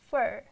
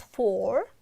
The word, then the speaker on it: for: native speakers I mean they are pronounced like fur fur ER again we are changing into schwa so it's not four four it's for you it's for you you